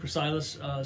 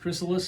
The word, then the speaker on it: Chrysalis: pronounces it's slightly different i've always pronounced that gracilis so i don't know um i was told it's actually pronounced chrysalis so i have no